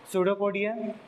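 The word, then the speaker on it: pseudopodia: वो देख रही हां सडोपोडिया। ये जो इस ऑर्गेनिज्म में उभरे हुए पार्ट है उसको हम बोलते हैं सडोपोडिया।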